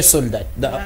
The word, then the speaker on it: soldat: Il faut dire soldat au lieu de soda. Voilà. Dans ces cas, ce n'est pas seulement la prononciation, mais aussi l'orthographe. Quand on dit déjà soda, justement, oui. C'est-à-dire qu'on a éliminé les L, au besoin, les T aussi à la fin. Oui, le T à la fin doit exister. Donc, bien qu'il ne se prononce pas lorsque le mot est masculin, le T existe.